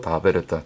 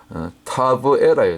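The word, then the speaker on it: תבערה: 그곳이 바로 다베라다. 다베라가 이제 히브리 언어로 이제 제가 그 히브리어 원어 사전에서 찾아왔는데 여기 다베라예요. 근데 히브리어 발음으로는 성경에서 우리말에는 다베라라고 적었는데 원래 히브리어 발음으로는 이게 타거든. 타브에라예요. 타브에라. 원래 타브에라인데 이제 그 우리말로는 디베라.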